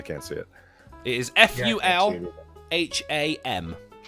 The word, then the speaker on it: Fulham: very small i can't see it it is f-u-l h-a-m phallum f-u-l fulham yeah well done hey not full